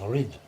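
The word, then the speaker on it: Reid: So my name R-E-I-D now in Scotland is pronounced Rid, meaning red, but it's got the I in it now.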